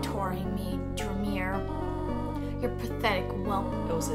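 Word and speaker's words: Dreemurr: The name is pronounced Dreamer. Rosie. Oh, no, it's fine. Because the thing is that you don't ever have it said to you, but it's pronounced Dreamer because they do it that way for the kind of like the wordplay.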